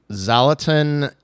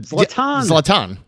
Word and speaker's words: Zlatan: Uh, uh, I'm going to butcher this name, but uh, Zalatin Ibra Ibra Ibraimovic. Boy, that sounds like a set. Latan that Zlatan.